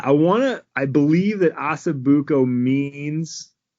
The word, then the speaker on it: osso buco: I can't what what how do you pronounce that the Italian one osso bucco osso buco yeah do that Oh bu